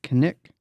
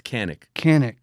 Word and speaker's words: Kanik: Today, my guest is Kanik. Did I say it right? No, you said it wrong. Fuck. No one says it right. It's Kanik. Kanik.